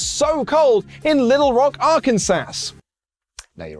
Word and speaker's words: Arkansas: latest signing snow also I know it's Arkansas but it's spelled arest I thought it'd be funny to say it that way it's not it's not